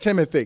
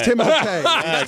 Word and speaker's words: Timothée: have trouble with because it's not Timothy Timothy it's not it's timote get over yourself well